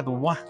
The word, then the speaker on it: Dubois: Dubois se escribe, pero se pronuncia Dubois.